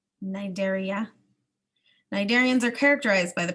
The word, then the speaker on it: Cnidaria: the food phylum nidaria the sea is silent Nigeria cnidarians are characterized by